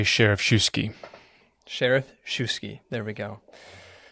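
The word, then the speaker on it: Schereschewsky: a name which is always a game to pronounce. Samuel Isaac Joseph Sheriffshuski? I say Sheriffshuski.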